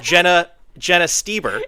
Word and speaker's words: Jenna Stoeber: I know it is spelled weird, but it's Jenna Stoeber.